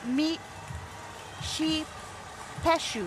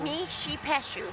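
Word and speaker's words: Mishipeshu: This float features Mishapishu, pronounced Mi Sheep Peshu. Mishi Peshu.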